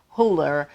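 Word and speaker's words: Hüller: stars German actress Sandra huller so they're the two little dots over the the U in her last name so you want to put that little German accent on that pronunciation um also Stars Milo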